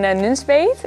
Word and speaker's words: Nunspeet: Yes, in Nunspeet. Can you pronounce the name of where you are from, where you grew up? We are in Nunspeet.